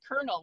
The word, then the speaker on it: colonel: heck is it pronounced kernel well it was always pronounced kernel it comes from french coronel and then uh and